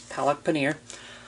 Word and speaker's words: palak paneer: the same time um so it is said how it looks it's palak paneer um but yeah there's